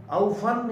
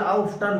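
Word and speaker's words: often: ऑफन या ऑफ्टन both are correct pronunciation के हिसाब से, ऑफन या ऑफ्टन।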